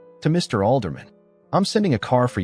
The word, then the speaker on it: Alderman: Alderman, like a city councilman.